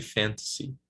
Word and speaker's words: fantasy: And especially when we have a cognate, right, as fantasy, we pronounce it in Portuguese, fantasia, it's even harder to remember, right? But it should be fantasy, okay?